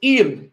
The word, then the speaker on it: El: the chief god was El, E-L, let me spell it here, E-L, El, it's L, but I say E-L because I don't want it to sound like the letter L, and that originally they